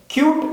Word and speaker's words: cute: എന്ന് പറഞ്ഞാൽ നമ്മൾ ആദ്യം പറഞ്ഞ കട്ട് എന്നതിൽ CUT കട്ട്, ആ എന്ന ഉച്ചാരണമാണ് നമുക്ക് യുവിന് കിട്ടുന്നത്. പക്ഷേ ക്യൂട്ട് എന്ന് പറയുമ്പോൾ CUTE എന്ന് പറയുമ്പോൾ യു എന്ന് തന്നെ അവിടെ ഉച്ചരിക്കുന്നു, ക്യൂട്ട്.